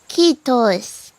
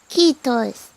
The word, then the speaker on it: kiitos: And I don't know why, but I guess the pronunciation is kind of similar to Japanese. So if you know how to speak Japanese, it can definitely help you with the the Finnish pronunciation.